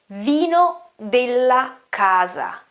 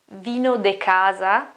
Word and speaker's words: vino della casa: the place you are, you should ask for vino della casa, vino della casa. It's not vino de casa. I heard that again and again. No, that's a mixture, half Spanish, half Italian, and all wrong anyway. Okay, vino della casa.